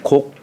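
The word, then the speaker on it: 告: 내가 어디를 나가게 되면 반드시 이 고하는 건데, 이 고를 곡이라고 읽어요. 곡. 고라고 할 적에는 일반적인 통보할 적에 고라고 얘기를 하는 것이고, 상대방에게 허가를 구하는 어떤 요청하거나 상대방의 어떤 허가를 구하는 그런 뜻이 담겨 있는 뜻으로 이렇게 얘기할 적에는 곡이라고 그래요.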